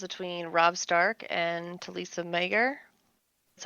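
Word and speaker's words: Maegyr: been watching the interactions between Robb Stark and Talisa Mager. That's how you pronounce her last name.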